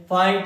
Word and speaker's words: fight: Silent करते हैं। तो क्या लिखेंगे? HIGH, इसको क्या बोलेंगे? हाई। FIGHT, इसको क्या बोलेंगे? फाइट।